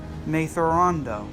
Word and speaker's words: Thrawn: Thrawn. It's pronounced Thrawn. Yes, Thrawn. Thrawn. Anakin clenched his teeth. He could hear a slight difference between his pronunciation and the alien's, but he couldn't figure out how to correct his vision.